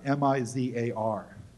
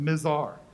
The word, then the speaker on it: Mizar: called it them what's how do you pronounce m-i-z-a-r not the mizar bizarre lazar the mazar which is the star